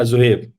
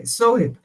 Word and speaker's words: Zuhaib: So, do I pronounce it right? Yeah, Zuhaib. Sohib. Okay, Sohib.